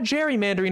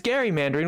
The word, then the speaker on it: gerrymandering: gerrymandering which is why it's not gerrymandering it's gerrymandering which is it's spelled with a G and it was originally meant to be Gary Mandarin because in 1804 or